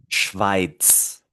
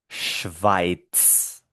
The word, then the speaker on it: Schweiz: Esto se pronuncia, me acerco el micrófono de nuevo, Schweiz, Schweiz, Schweiz.